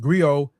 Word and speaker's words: griot: Uh they are unique to west Africa um professional encompass many roles uh pronounced go have been referred to as a historian or